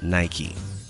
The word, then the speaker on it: Nike: In 1969, Jeff Johnson suggested that the company should be called "Nike" pronounced as "naiki", after the Greek winged goddess of victory.